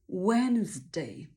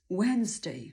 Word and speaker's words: Wednesday: przeanalizujmy pierwsza sylaba to d całkowicie ignorujemy i Brzmi to jak angielskie słowo czyli kiedy ktre wymawia